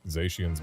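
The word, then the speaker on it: Zacian: So they're the cyan, zashian, zashian, and the magenta.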